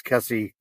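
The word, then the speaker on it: Kesse: And I always get her name wrong. I don't know why. Uh, it's Kessie.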